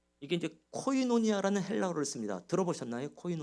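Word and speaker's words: κοινωνία: 사귐 이란 단어가 두 번 너 이게 이제 코이노니아 라는 헬라 그렇습니다 들어보셨나요 코인 오냐 이렇게 교회에서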